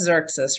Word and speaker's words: Xerxes: I'm here it is it was Xerxes right is that how you pronounce that one uh-huh wizard yeah